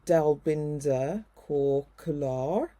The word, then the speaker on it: Dalbinder Kaur Kular: So a warm welcome to Dalbinder Kaur Kular. Is that the right pronunciation It of your is, yeah.